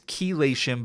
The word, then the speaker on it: chelation: It's chelation, but it's spelled C-H-E-L. Chelation.